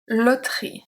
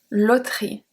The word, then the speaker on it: loterie: The first one is la loterie. La loterie.